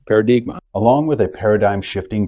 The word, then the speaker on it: Paradigma: on the end and that's phonetically pronounced as a Portuguese word for Paradigm paradigma along with a paradigm